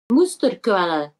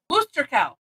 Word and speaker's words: Musterquelle: Musterquelle. Musterquelle. All right. Musterquelle, yeah. Oh, and with pronouncing the E on the end.